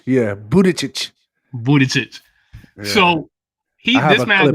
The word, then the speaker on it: Buttigieg: Buttigieg. Yeah, Buttigieg.